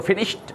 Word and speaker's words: finished: याद रखना है ईडी जो है ये ट साउंड में कन्वर्ट हो जाता है, इसी वजह से मैंने इसको फिनिश्ड बोला है।